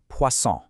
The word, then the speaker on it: poisson: First, you've got poisson. Hear that soft C sound? Poisson.